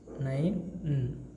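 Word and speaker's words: nein: E and I combination again gives rise to the sound of I, right? So N-E-I-I-N, nine, na, nine.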